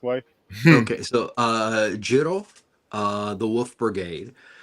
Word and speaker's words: Jin-Roh: Okay, so Jin-Roh, the Wolf Brigade. It's actually a play on a term Jin-Roh, which means werewolf.